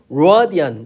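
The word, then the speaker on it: radian: 엘바음은 이걸 하게 되면 라디안 이렇게 하는 거고 이거 위에 거는 로디안 이렇게 되는 거야.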